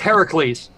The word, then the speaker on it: Heracles: No, it's Heracles. Heracles. Heracles is the way it's pronounced.